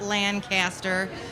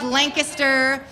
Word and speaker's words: Lancaster: came from Lancaster which that's how you say it it's not Lancaster its Lancaster Maxine Maxine where did you